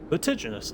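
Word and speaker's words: vertiginous: Cutigenous extremely high or steep. And I am pronouncing it correctly. is with the soft G.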